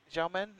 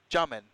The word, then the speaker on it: Xiamen: We are here in, I can never say, Xiamen? No. Xiamen.